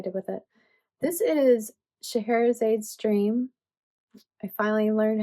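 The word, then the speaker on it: Scheherazade: This is Shahara's aid's dream.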